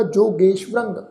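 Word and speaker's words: ਜੋਗੇਸ੍ਵਰੰ: रारे उत्ते जिहड़ी टिप्पी की मात्रा वा उहदा नासिक उच्चारण होएगा जोगेश्वरंग।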